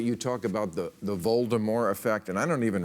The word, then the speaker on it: Voldemort: is uh somebody called Voldemort and you actually pronounce it correctly the the T at the end is silent and the Lu that